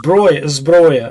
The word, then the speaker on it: Zbroya: And how do you say SBRUYA, Marco? Is there? Hang on. What'd you say? SBRUYA. Oh, Zbroya. Okay.